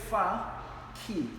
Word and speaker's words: Fakhi: It says fa key. Right. It's a key that takes you far.